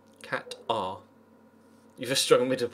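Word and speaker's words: Qatar: Oh, see it is pronounced catar. Cat R.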